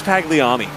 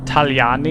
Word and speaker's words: Tagliani: Tagliani? No. Nope. Tagliani. It sounds like how somebody from New York would pronounce his name.